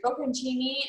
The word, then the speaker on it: Bocconcini: Bocconcini and basil is a really nice option.